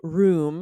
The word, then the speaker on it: room: I say room. It's like a hard ooh, like Ooh, broom, room. yes. And Lindsay Mhm. says room, Room.